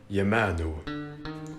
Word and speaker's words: Yamanu: So, here are the names of those gods in the original Egyptian language. Ra, Re-o. Osiris, Wasir-it. Amun, Yamanu. Isis, Auset. Horus, Haru.